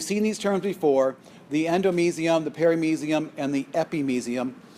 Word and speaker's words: endomysium: So you've seen these terms before: the endomysium, the perimysium, and the epimysium. You may hear others pronounce them endomysium, perimysium. Either pronunciation appears to be acceptable. I hear them both all the time.